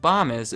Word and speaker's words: Bomis: and it was called Bomis. I know it's pronounced Bomis because under their frequently asked questions, they tell me that Bomis rhymes with Thomas. Right above, does the world need Bomis?